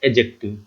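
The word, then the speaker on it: adjective: क्योंकि ए और जे के बीच में जो डी आता है वो साइलेंट रखा जाता है और पढ़ा जाता है एडजेक्टिव।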